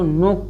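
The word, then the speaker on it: knock: इसको नोक पढ़ेंगे, के साइलेंट रहेगा।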